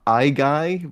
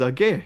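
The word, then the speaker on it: Aigai: Age, I think I used to pronounce it Igai, but the Greeks corrected me. It's Age, which it's a funny name because it's onomatopoeic.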